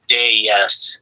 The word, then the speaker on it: Deus: Someone says Deus is correct. Okay. Deus. On the dais. As in, jump up on the dais.